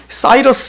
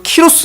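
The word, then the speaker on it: Cyrus: 근데이 나라의 초대왕이 바레스입니다.이 나라의 초대왕이 고레스 즉 일반 역사로 말하면 키로스 이세 영어식 발음으로는 사이러스 이렇게 말하죠. 사이러스 혹은 키로스 이세 이렇게 말합니다.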